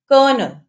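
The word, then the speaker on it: colonel: usually pronounce करते हैं लेकिन इसकी भी एक एक्सेप्शन है कर्नल इसमें ओ साइलेंट है नेक्स्ट अल्फाबेट है साइलेंट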